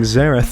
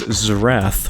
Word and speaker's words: Xerath: was surprisingly hard because I have been pronouncing Xerath as Xerath for half a decade now. I thought that's how it was pronounced, but that's not what Azir says.